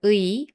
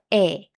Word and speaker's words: 의: When used as a possessive marker, the pronunciation of 의 can be either 의 or 에. So, both 토끼의 모자 and 토끼의 모자 are totally correct.